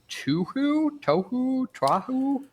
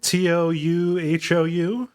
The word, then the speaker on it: Touhou: I think it's pronounced Touhou, Luna Nights. Okay, Touhou. Yeah, Touhou.